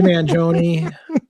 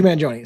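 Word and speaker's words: Mangione: Luigi Manjione.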